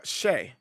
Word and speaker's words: Xe: And she was like, "No, it's pronounced it's Shay or I was like, "Okay, yeah, Shay, Lieutenant Shay or Captain Shay or Major Shay." So, she pronounced her ex as with the sh sound also.